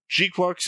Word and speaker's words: GQuuuuuuX: So Gqu is how we pronounce it.